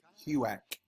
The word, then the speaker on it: HUAC: Pronounced Huac.